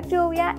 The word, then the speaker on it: lluvia: lluvia a la palabra lluvia le hace falta la sílaba Yu que es la que formamos con la doble L y la vocal u lluvia perfecto y la